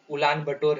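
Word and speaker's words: Ulaanbaatar: Mongolia का उलान बटोर है, कई लोग इसे उलन बटोर कहते हैं, तो ध्यान देंगे।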